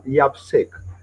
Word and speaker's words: YAPC: Community Empowerment Cameroon, called abbreviated YAPC, that is pronounced as YAPSEC.